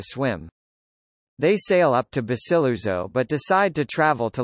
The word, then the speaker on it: Basiluzzo: Basiluzzo, Italian pronunciation, Basiluzzo, is an islet, barely 1 square kilometre 0.39